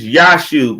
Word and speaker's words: Yashub: It's Yashub. It's not Joshua no more. It's Yashub. We spell it with a J though on the it's Yashub now.